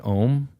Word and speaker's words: Om: And yoga, we om. Like Om, and that is spelled AUM, and it's supposed to be the